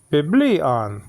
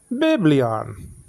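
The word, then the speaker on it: βιβλίον: and there okay okay so b b on biblion okay not biblion no because your cuute marker is not on the first syllable so the cuute marker looks like um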